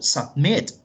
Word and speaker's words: submit: O submit. Submit lleva el acento en la última sílaba, doblamos la última T y agregamos ing.